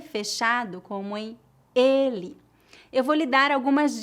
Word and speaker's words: ele: a diferença agora vamos praticar as palavras ela com e aberto e ele com e fechado repita depois de mim ela ela ele ele excelente a letra